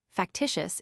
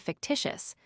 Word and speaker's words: fictitious: If a would-be eloquent lawyer mispronounced a foreign word, saying, for instance, factitious instead of fictitious.